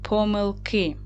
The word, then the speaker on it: помилки: Наголос падає на и, так, на кінець слова.